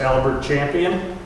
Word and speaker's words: Albert Champion: by the name of Albert Champion, otherwise pronounced as Albert Champion.